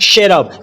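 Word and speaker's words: cherub: जीनी number nine है शरब यहां पर सी एच का उच्चारण श होगा और शरब का हिंदी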